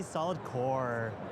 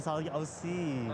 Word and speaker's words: SOLID OC: Oh, geez, so you've been saying it wrong. From Yeah. the get-go. So what is it? It is a ZOTAC Gaming GeForce RTX 5070 solid OC.